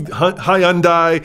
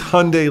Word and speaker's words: Hyundai: citroen citron citroen stops it's hyundai like sunday guys just hyundai don't be hyundai it's hyundai like sunday it's porsche